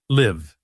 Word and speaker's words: live: The word live, the verb, has a short I sound as in sit. L I V live.